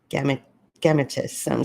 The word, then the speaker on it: gametes: production of large immotile Gametes. Someone please correct me if I'm mispronouncing that. It's Gametes.